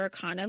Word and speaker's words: arcana: Is it arcana?